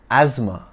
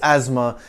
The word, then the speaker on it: asthma: out and let's address asthma you might hear asthma or aema at the doctor's clinic but ha the S is pronounced as Zed and the th is silent sneaking in from Greek